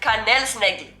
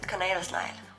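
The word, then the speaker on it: kanelsnegl: how you write it and i used to pronounce it canel snaggy i'm so glad i'm embarrassed of that i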